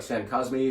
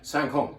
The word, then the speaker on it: Saint-Côme: Yes, that's how you say the winery name. It looks like Saint Cosme, or how do you say that? Saint-Côme is what they would say.